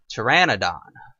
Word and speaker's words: Pteranodon: 25 and yeah and that is not a pterodactyl or a pterosaur that is a Pteranodon often mispronounced as the others quite often and another useful tip